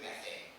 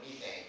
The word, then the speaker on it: methane: um but let's start with methane or methane for those of you who prefer the British pronunciation um this is you've